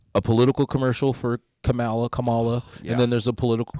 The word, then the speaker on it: Kamala: Comma, like the little dash thing.